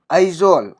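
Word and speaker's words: Aizawl: AI से हो गया आई, JO से हो गया जो, उसके बाद आएगा व, ज्वाल, ठीक है। आइजोल, आइजोल याद रखिएगा इसको, इसकी स्पेलिंग जो है वह बीच में साइलेंट है, वो आता है आइजोल, ठीक है।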